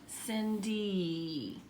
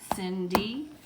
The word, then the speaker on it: Cindy: makes yeah yeah but listen to her name again Cindy that Y is making E's name e usually when you have a two or three syllable word like Cindy that y at the end is going to be e and I call it copycat why it's copycatting for making the same sound as e so we have a